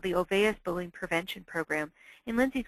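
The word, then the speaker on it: Olweus: He's from Norway and has his name Olvais. It's a little interesting pronunciation there. And he's developed a program called the Olvais Bullying Prevention Program.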